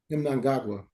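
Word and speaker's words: Mnangagwa: Mangagwa.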